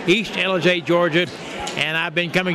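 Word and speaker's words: Ellijay: town with 300 population East LJ that's spelled e l l i j a y East LJ Georgia and I've been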